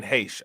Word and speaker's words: Heche: See, I'm Ann Heche, nigga. All right, Ann Heche.